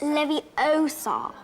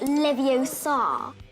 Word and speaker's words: Leviosa: waving a wand about you're saying it wrong it's Levi Oar not Levi oaw the comedic scene helps